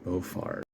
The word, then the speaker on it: Beaufort: the exit of doctor Beaufort the pronunciation of this word is sounds like boyfriend Plus bonus feature Dr